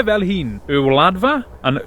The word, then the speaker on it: Y Wladfa: Duncan from Wales to help out with the pronunciation. Hey, shwmai Paul, ti'n iawn? Right, rydych chi'n dweud e fel hyn, y wladfa and y wladychfa Gymraeg.